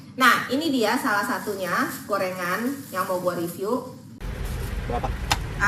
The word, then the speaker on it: Goerengan: di sini adalah goerengan ya tulisannya adalah goerengan g o e r e bacanya gorengan ya kan Nah ini adalah